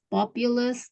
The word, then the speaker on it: populous: Jadi kalau ada yang UU gitu ya, kayak itu kan ada sebenarnya ada U-nya kan tuh. Jadi bacanya tuh ada kayak Y-nya gitu ya. Kayak komputer. Itu kan populous ya. Jadi Iya. U-nya itu kayak dibaca Y.